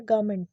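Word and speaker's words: government: इसका जो correct pronunciation है वो है गवर्नमेंट, गवर्नमेंट, गवर्नमेंट। र को साइलेंट करिए, गवर्नमेंट, गवर्नमेंट।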